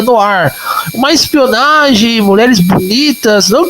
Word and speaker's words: Noir: Se escreve Noir, mas se pronuncia no ar.